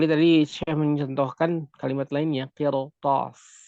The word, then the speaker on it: قرطاس: Kecuali tadi saya mencontohkan kalimat lainnya, qirtas. Contoh lainnya adalah qirtas. Di sini qaf adalah huruf isti'la, maka berbeda posisinya, maka ra dalam keadaan sakin ini dibacanya tebal.